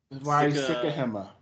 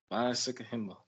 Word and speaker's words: Sikahema: Sikahema. Sikahema.